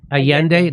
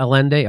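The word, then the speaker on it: Allende: L's glasses a yende am I saying it wrong yeah just yeah a yende not alende okay thank you Steph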